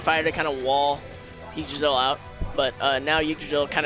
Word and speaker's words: Yggdrasil: All right, so Drazzle doing a good... I don't know how to pronounce his name. You can say Drazzle. Drazzle. Yeah, it's Yggdrasil.